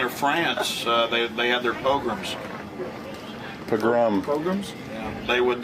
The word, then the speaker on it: pogrom: That's 600 years ago in England or France, they had their pogroms.